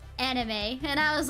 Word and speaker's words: anime: of like severely mispronounced anime when I was a kid I would call it anim cuz I didn't know how to pronounce it until I watched Lucky Star and she said anime and I was like